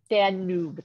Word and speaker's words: Danube: can you can somebody correct me how to pronounce that the noob danube the knob dan noob thank you all right an unparalleled hive amazing